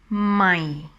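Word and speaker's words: ใหม่: And talking about the tone, this tone is dropping down when you pronounce it, my. So I always say that it sounds like a disappointing tone.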